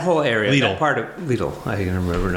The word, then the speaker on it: Lidl: Lidl is going to go. Lidl. That whole area, that part of Lidl, I can remember how to pronounce it. Rhymes with needle.